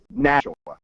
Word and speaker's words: Nashua: How do you pronounce it? Nashua.